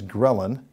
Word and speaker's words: ghrelin: more potent hunger stimulants a hormone known as ghrelin that's spelled g-h-r-e-l-i-n is normally released in greater amounts